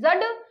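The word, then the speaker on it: dzud: रखिएगा फिर मंगोलिया में जड आपातकाल किससे संबंधित है ये आपका जो डी है ये आपका साइलेंट है जड और कहीं कहीं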